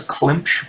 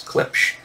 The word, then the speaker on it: Klipsch: I've got the, I believe you pronounce them Klipsch, I guess, speakers. Oh, it's Klimpsch, but there's no M in it, so I think it's Klipsch speakers down there.